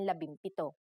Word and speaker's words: labimpito: If a P follows the NG connector, the NG becomes an M, just like in labimpito.